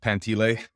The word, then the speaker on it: Pantile: It's spelled Pantile, but it's pronounced Pantile.